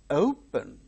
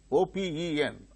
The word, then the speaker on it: open: The initial syllable fa, that is stressed. Father. Open, O-P-E-N, open.